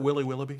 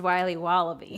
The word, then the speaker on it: Wiley Wallaby: Can I have a piece of that Willy Willoughby? Wally Wibbly. Wiley's Wallabies. Wallaby Wallies? Wilby Wababy? It's pronounced Wiley Wallaby.